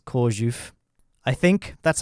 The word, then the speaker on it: Chorzów: It's at a theme park in Chorzów, spelt Korzał, in case you want to Google that, but obviously in Polish, letters have different pronunciation, so it's Chorzów.